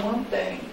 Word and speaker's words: mantém: Aqui, ele mantém. Ó. Eu falo mantém ou mantém? Mantém. Então, aqui, ó, a última sílaba é forte, é óxido, terminado em N.